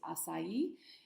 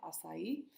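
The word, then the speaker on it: açaí: is a really big popular thing today is asai um and that's the correct pronunciation of that word there at the top of the slide asai um and the Latin name is there it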